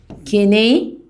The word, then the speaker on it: kinesthetic: تاني كينيستاتيك، الاس سايلنت.